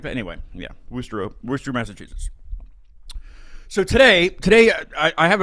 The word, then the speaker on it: Worcester: Way up and it's not Worcester because it looks like it says Worcester, because we Americans don't know how to pronounce anything. So not Worcestershire sauce or anything like that. Anyway, yeah, Worcester, Massachusetts.